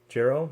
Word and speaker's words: Jehu: Jehu, yep.